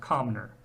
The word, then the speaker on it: Comnor: There is one instance of the glyph, and that is in the word the name Comnor, that's pronounced Comner.